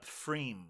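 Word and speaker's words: Pfriem: it was from uh freem or maybe it's just pronounced freem yeah free I think it's a silent P but I just want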